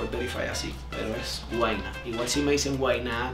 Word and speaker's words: Guaynaa: ¿Cómo se pronuncia su nombre? Guayna, no Guayna.